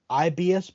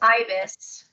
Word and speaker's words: ibis: They used the art program called IBS Paint X, and they are on their phone doing all my work, all their work. They said. On a It's pronounced phone. ibis, like the bird.